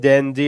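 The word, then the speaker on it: Gen Z: देखिए जैन जेड लिखा है लेकिन जैन जी जैन जी लोग कहते हैं। जैन जी इसलिए कहा जाता है क्योंकि अमेरिकन उच्चारण के हिसाब से जेड को वहां पे जी कहते हैं।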